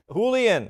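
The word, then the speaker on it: Julián: Julian, right? So you don't pronounce the J in either case.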